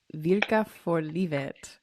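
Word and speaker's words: Virka för livet: I might butcher the title of this, but it's Virka for Livet, Yes.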